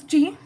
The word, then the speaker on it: chi: The next is Chi, CHI.